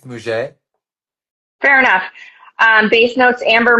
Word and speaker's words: muguet: How do you pronounce that? That one I I've think never even seen. it's Muget.